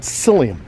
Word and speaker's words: psyllium: there's a product it's something called psyllium it's spelled with a pea silt psyllium it's found